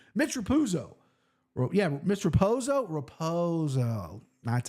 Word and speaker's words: Raposo: I guess right Mitch ruzo yeah Mitch raposo raposo that's how you say it plus 215 versus